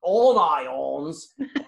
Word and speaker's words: Onions: this is ct onions but in fact mr onions pronounced his name all i owns told everyone to call him all i wants because he like tolkien